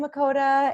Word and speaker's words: Mikodah: guys I'm gonna be here today with miqo'te and so I pronounced your last name right yes okay perfect